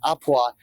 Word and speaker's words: à point: the item till it's au point. I mean, au point. A point. Or it's spelled a point, but it's pronounced à point, and that means just done.